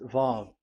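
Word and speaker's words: ו: Vav. So it's V as in Vogue. So it's really V.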